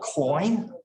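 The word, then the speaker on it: quoin: This articulation in the brick is called a coin, Q-U-O-I-N. How do you say it? Coin, Q-U-I-O-N.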